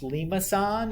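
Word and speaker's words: limaçon: are called limasson curves so this word is pronounced limasson it's somebody's last name i don't know what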